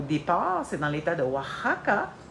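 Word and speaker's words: Oaxaca: c'est dans l'état de wahaka wakaka ça s'écrit même mais ça se dit W en espagnol et euh le bras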